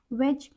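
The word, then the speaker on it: wedge: वेज, यहाँ पे हमारा साइलेंट क्या आ रहा है, जी आ रहा है। डी और जी जब साथ में होते हैं तो हमारा जे साउंड आता है।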